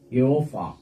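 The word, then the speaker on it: Jehovah: Actually hindi J yung nandodoon naanay. That is Jehova. Tapos yung V minsan napo-pronounce siya. Ah iba ang ano. Iba oo pero nakasanayan na in-adopt na lang nila Jehova. Pero yung original an pronunciation hindi ganun eh.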